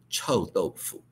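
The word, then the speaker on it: 臭豆腐: In Mandarin or Chinese, pronounce chou doufu.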